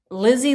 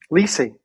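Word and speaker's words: Lisey: Lizzy Landon. I might be saying her name wrong. Lizy Landon. Lizzy Landon. L I S E Y. Liy. Lis story. Liy. Yeah. Sorry. Yeah. Yes. So, I said it wrong.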